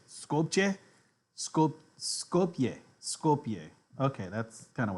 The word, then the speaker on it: Skopje: how do you say scope J sculpture scope Skopje Skopje okay that's kind of what I thought